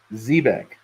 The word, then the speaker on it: Zebec: So one thing too, I just wanted to point out to you guys, as far as Zebec goes, it is pronounced Zebec, and it actually references, because it can be spelled this way or that way, a Mediterranean sailing ship.